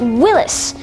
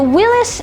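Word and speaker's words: Willys: did this was called willis and this is willis spelled w-i-l-l-y-s so that's interesting now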